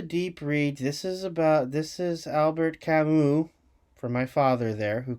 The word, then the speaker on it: Camus: This is Albert Camus, for my father there, who corrected my pronunciation.